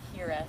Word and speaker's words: hiraeth: There is a Welsh term, I don't know how to pronounce it, I think it's Hiraeth. It's Hiraeth.